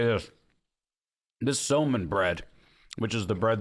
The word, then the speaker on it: somun: This Soman bread, which is the bread they put these things on, Is fantastic. unbelievably good. What is it? Soman. Spell it.